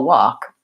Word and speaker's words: wok: So the word walk is actually pronounced the exact same as this word, which might not be a word you use that much, but that's the Chinese cooking dish, a wok.